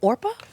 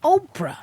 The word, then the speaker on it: Oprah: So it turned out on my birth certificate, it's Orpah. And then people started calling me Oprah. And so it's just a difference between the P being before the R or after the R.